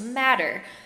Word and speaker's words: Mater: landed at is called mater academy of northern nevada it's spelled like mater but it's latin for mother so it's pronounced matter it's a brand new